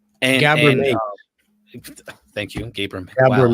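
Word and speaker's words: Gabor Maté: Pronounce his name. Gobar Mate. Gabor Mate.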